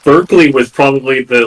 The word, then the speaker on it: Berkeley: And Berkeley was like, what if... Or Barclay, right? It's spelled the same as the city, but it's British, so it's...